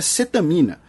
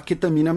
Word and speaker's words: cetamina: Porque a pronúncia em português, teoricamente, é cetamina, né? Mas o pessoal fala ketamina mesmo por conta da pronúncia em inglês.